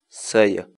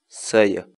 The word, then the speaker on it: saya: série de vídeos onde nós ensinamos você a pronunciar determinadas palavras em quechua portanto a nossa palavra do dia para hoje é saia saia saia em português a palavra quíchua saia significa